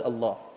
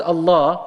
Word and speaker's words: Allah: plural but the word Allah the name Allah cannot be plural cannot be jewel can only be singular number one it is one syllable word even though it sounds